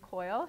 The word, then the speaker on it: Keul: first guest today which is the artist James Coyle whose am I pronouncing your last name right okay good whose